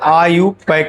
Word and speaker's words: IUPAC: दूसरा होता है डेरिवेटिव नेम और तीसरा यही मेन पढ़ना है आईयूपक नेम लिखते हैं आईयूपीएसी और इसको उच्चारण किया जाता है आईयूपक नेम क्या करते हैं